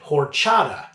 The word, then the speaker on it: horchata: beer that is inspired by a drink named horchata which is spelled h o r h now what is